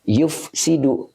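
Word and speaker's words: يُفْسِدُ: Ini dibacanya yufsidu.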